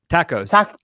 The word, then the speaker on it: TACoS: something i love how you say it though tacos yeah that's the right way to pronounce it vince you're right it is uh